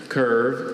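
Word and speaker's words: kirve: Curve was probably formed from an English word.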